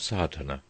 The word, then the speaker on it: Sadhana: about the pronouncing of sard the accent Falls decisively on the first a which has the broad sound of the letter chapter 1 the relation